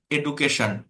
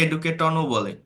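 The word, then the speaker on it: education: উচ্চারণ আমরা কি বলবো খোলা চোখে এডুকেশন এ ডু এডুকেশন অনেকে এডুকেটন বলে ফেলে না কিন্তু এইটাকে এটা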